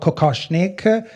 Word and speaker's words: kokoshnik: The beautiful headpiece is called kokoshnik. Tatiana Soroko approved the pronunciation, and although it was kind of a